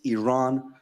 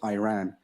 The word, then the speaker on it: Iran: reporter for mispronouncing Iran our country is named Iran not Iran who also questioned him